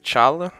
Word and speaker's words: challah: Se escreve challah, mas se fala challah.